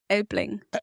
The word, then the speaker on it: Elbling: Elbling. Elbling? Mm-hmm. How do you spell that? E-L-B-L-I-N-G. Oh, Elpling.